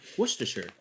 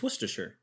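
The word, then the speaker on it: Worcestershire: even say the name whater Shir but it's wher Shir I was making a joke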